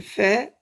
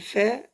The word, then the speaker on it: ف: Elle fait, c'est on appuie les dents en haut sur la lèvre qui est en bas. Fait. C'est facile. Fait.